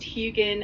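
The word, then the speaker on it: Huginn: That's why he said hoonin and moonin. Is that how you say it? Yeah, that's pretty close. It's pronounced hugan and moonin.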